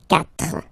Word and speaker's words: quatre: So you get this Q, U, A, but then the sound that you will pronounce is K, okay? Quatre, quatre.